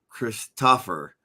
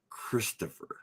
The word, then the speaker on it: Christopher: colonel said Sergeant uh Chris tougher I I would stop him I would say colonel my name is Sergeant Christopher not Chris stuffer please do not do not uh pronounce it wrong again I told flat